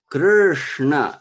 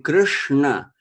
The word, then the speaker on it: Krishna: exactly is there so so this sure it's is very convenient in the name Krishna because that sure is pronounced just the tongue stays there when we curl the a curved our tongue back word to pronounce our crew the tongue stays there and says sure so curved there is another